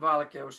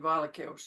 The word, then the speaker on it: valkeus: Valkeos, well, okay, ooh, that happens to be one of those diphthongs, but not when you break it down by syllables. The or the e and the u are parts of different syllables, no diphthong.